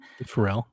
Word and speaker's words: Pharrell: Pharrell.